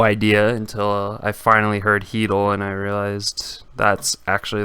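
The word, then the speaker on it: Chytil: look at phillip heatle and yes it is pronounced keadle i know it's a pretty strange one but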